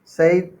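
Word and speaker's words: Said: सईद बहुत लोग साइड पढ़ते, बहुत लोग सैड पढ़ते हैं, तो आपको प्रोनाउंसिएशन में कंफ्यूज नहीं होना है।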